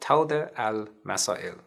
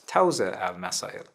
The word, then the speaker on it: Tawḍīh al-Masā'il: A marja's fatwas and legal views can usually be found in a genre of legal literature called Tawḍīh al-Masā'il, which can also be pronounced as Tawzīh al-Masā'il, meaning explication of legal questions problems.